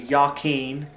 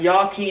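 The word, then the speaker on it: Jachin: so yaken and Boaz there is no J and Hebrew Okay so the actual pronunciation be yaken so we have yakin and Boaz that is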